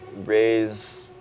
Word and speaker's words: RVZE: So raise literally it's R A Z E, but the A is upside down. So, it's it's spelled RV Ze on platforms, but it is an A.